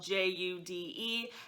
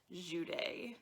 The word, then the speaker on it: Jude: her name is spelled j-u-d-e however i did listen to this book almost entirely on audiobook and from the audiobook i learned that her name is not pronounced jude it is actually pronounced juday juday is a syrian